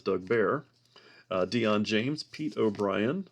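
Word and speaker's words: Bair: Smithson Doug BLT bear I thought it was Blair but looks like I've mispronounced his name all along for many years but it's Doug Baer uh Dion James Pete O'Brien Mike Moore uh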